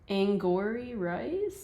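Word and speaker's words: Angourie Rice: say her name um it looks like angor rice that's how I look correct yep that's how I would say it too okay so angor rice we're we're going to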